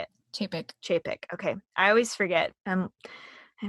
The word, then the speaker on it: Chapek: Chapek.